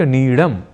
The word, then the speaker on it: नीड: तो अब नीड शब्द का प्रयोग सर्वथा शुद्ध रूप में करना हो तो हमें कहना और लिखना है नीड, न कि नीड।